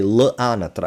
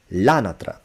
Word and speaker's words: l'anatra: A lot of my students say la anatra because they want to pronounce that apostrophe, otherwise why is it there? Well, guess what? Do you say it's? Do you say don't? No, you just say it's, don't. So, l'anatra.